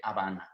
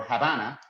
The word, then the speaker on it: Habana: spanish at age at the beginning we don't pronounce it so that's the reason why we said habana so la havana or havana in english so well it's the capital of